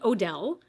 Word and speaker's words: Odele: And I believe it's pronounced Odele, O-D-E-L-E.